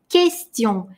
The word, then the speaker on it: question: Q и U всегда идут вместе, U при этом не читается, и у нас мягкое Q. Произносим вместе question.